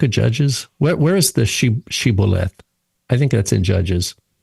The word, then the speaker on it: shibboleth: group of Israelites, and they say this word, shibboleth, and they say sibboleth. They can't say the word. Right. They can't match the pronunciation.